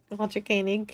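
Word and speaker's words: Walter Koenig: He must also Thank you for pronouncing Walter Kanig's name correctly. Walter Kanig.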